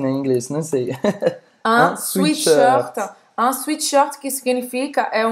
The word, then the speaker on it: sweatshirt: Mas olha como é engraçado, a gente fala, pronuncia como se fosse suite, não é sweatshirt, como em inglês.